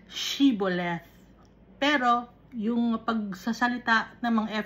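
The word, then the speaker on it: shibboleth: pag ang eephraim naman epephremites ang pagpo-pronoun sila siboleth wala silang h naintindihan ba ninyo Ang pagpo-pronounce shiboleth pero yung pagsasalita ng mga epheremites siboleth.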